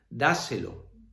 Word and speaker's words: dáselo: Dáselo, dáselo, da, ahí está la sílaba tónica, se, lo, ¿vale?